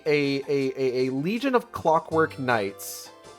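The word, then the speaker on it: Khnights: short for kasac Knights no it's k h n i g h t s it's just you pronounce Knights but with the k his puppet's name is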